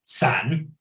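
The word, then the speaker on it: 三: It means we are going to separate, because the number 3 in China is pronounced sun, and the same word that is pronounced sun means 3, sun means to separate.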